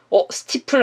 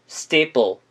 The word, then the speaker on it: steeple: 스티플 아닌가요? 하실 수 있는데 아까 알려드렸다시피 ST 발음 어떻게 발음한다고 했죠? 된소리가 나면서 스티플이 아닌 steeple로 발음이 난다.